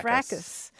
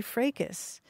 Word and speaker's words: fracas: Heritage, they don't give the British pronunciation where the S is silent.